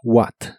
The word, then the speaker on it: what: hoy primero el interrogativo What que significa qué O cuál la H de esta palabra ya no se pronuncia solo es what what y también el interrogativo